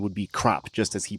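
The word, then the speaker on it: Krapp: Well, it's like, when you look at it in English and it looks like it's pronounced crap.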